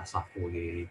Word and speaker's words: Savoye: Jadi kita bisa lihat bagaimana Villa Savoye itu, Villa Savoy itu bacanya, itu sirkulasinya menerus, kemudian